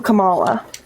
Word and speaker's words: Kamala: accountability also applies to Kamala it's Kamala Kamala Kamala it's not the same thing names don't have multiple pronunciations it's one just might